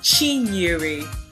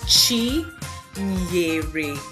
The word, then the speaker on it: Chinyere: So this name is actually pronounced as Chinyere. Chinyere. So it's Chi Nyere.